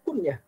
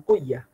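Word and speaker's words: كنية: Misalkan kunyah kan kita bacanya kunyah, bukan kuyah. Nggak masalah sebenarnya, karena intinya adalah karena satu kalimat.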